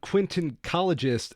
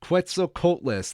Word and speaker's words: Quetzalcoatlus: A quintoncologist attacks... I'm not pronouncing these dinosaur names right, people. Quetzalcoatlus. Quetzalcoatlus. Thank you, Mr.